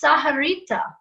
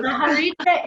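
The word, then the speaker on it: Sahuarita: So it's Saharita, right? Very good. Yes. Saharita, Arizona. Awesome.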